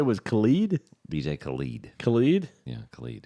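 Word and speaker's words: Khaled: his name Khalid Khalid Khalid rhymes with salad she had had a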